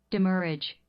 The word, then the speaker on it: demurrage: 자, 발음. Demurrage.